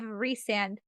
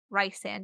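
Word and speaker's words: Rhysand: the voice actor of resand Rye sand if you want to say it correctly um in the dramatized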